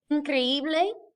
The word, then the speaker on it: increíble: Increíble, incredible, accent on the second I.